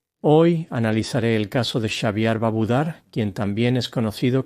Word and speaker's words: Xaviar: Según su abogado, Xavier pronuncia su nombre como Xavier, como caviar. Lo pronunciaré como Xavier.